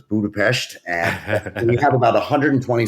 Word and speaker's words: Budapest: team is in Budapest uh the S is pronounced so it's Budapest and you have about 120 folks in Hungary